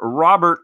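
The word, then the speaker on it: Luis Robert: it is it is Louis rub air or Robert as the networks say lewis robear top 100 out of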